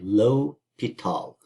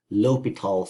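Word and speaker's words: L'Hôpital: about indeterminate forms and l'hopital's rule that is how it is pronounced it's like low pitol low betal through uh it's obviously French and it kind of looks like Hospital except there's no s and there's that funny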